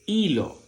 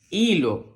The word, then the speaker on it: hilo: letra H y cuando la letra H está sola, que no tiene una C aquí delante, es muda. Por tanto, suena como suena la vocal. La H con la I va a sonar como I, muy bien, porque la